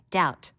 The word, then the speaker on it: doubt: learn how to spell doubt notice the silent B foreign a g that